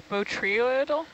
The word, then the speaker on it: botryoidal: And the word is botryoidal?